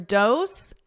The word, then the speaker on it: dose: So here, dose and rose have the exact same vowel sound. It's that O, but the S-E is pronounced differently. Dose, s, with an S, rose, z, z. So you hear a buzzing because it's a voiced sound.